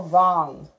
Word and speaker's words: wrong: some his are wrong let's go wrong WR OMG that W is silent how do you know